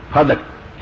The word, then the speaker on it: فدک: لفظ نہیں نہ کوئی صحیح یہ تلفظ ہے فدق تے بھی زبر پڑی دی ہے، ڈال تے بھی زبر پڑی دی فدق، اور ایک کوئی باغ